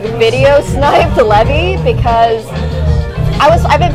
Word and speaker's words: Levy: and I'm like no he didn't even say Levy he said Levi or something like he mispronounced Levy's name and I was like